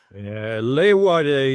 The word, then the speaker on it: Leeuwarden: Leeuwarden, you pronounce it, but that's a bit difficult for foreigners.